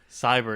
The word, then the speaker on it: Sabre: Cyber. It's not Sabre. Saber. It's Cyber.